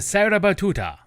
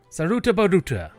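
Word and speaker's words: Sarutabaruta: The things we do to get to Sarah Batuta. Saruta Buta. Oh, good. We are still mounted. Saruta Buta. I can't believe I've been mispronouncing that. this entire time. It is Saruta.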